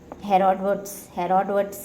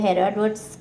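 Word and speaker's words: Herodotus: आ सकता है हमको हेरोडोटस। अगर इंग्लिश में इसकी स्पेलिंग्स पर्टिकुलर दी नहीं हुई है तो हेरोडोटस का पढ़े हुए हेरोडोटस भी हो सकता है, हीरोडोटस, देखो इसका प्रोनाउंसिएशन हीरोडोटस भी हो सकता है या हेरोडोटस भी हो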